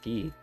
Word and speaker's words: Guy: am i leon maria guy he is pronounced key where are you